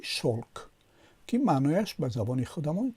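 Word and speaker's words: шёлк: شلک با یا نوشته می شود، اما تلفظ می شود چی؟ شلک، که معنایش به زبان خودمان چی؟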